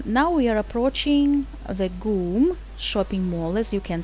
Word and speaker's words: GUM: football fields the goom we pronounced it as goom department store was built